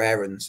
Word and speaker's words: Aarons: I think Farke might see something of Max Aarons, or Aarons as he's pronounced, in Cody Drama.